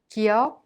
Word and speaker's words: 기역: 기역 is not a strong K sound or a voiced G sound, but pronounced in a soft K sound in an initial letter.